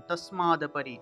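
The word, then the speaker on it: তস্মাদপরি: অর্থে তসমাত পরিহারি অর্থে এই যে তাসমাত অপরি এইটা কিন্তু একটা মানে এই যে সম্পূর্ণ একটা শব্দ কিন্তু এখানে ভাঙ্গা হয়েছে সেজন্য আপনারা একসাথে উচ্চারণ করবেন এই সম্পূর্ণ শব্দটা একসাথে উচ্চারণ করবেন তাসমাদ পরি তাসমাদ পরি ঠিক আছে এখানে কিন্তু সময় নেওয়া যাবে না তাসমাদ অপরি এই দুইটাকে আলাদা আলাদা করে সব সময় নিয়ে বলা যাবে না একসাথে বলতে হবে তসমাত পরিহার্যে অর্থে নাম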